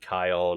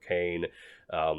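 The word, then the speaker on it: Khayon: And it's told from the perspective of this guy named Iskander Chion, or a lot of people pronounce it Kion or Cain.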